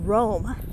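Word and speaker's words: Rhome: Now, interestingly enough, about 2 miles away from here, there's a town called Rome. It's spelled R-H-O-M-E.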